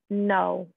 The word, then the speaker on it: know: This verb in English, to know. Know. Pronounced the same as, for example, no Brasil.